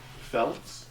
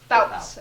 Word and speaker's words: Fouts: And will you say her name for the camera so it gets picked up on the Bobby Fouts. Felts? Fouts.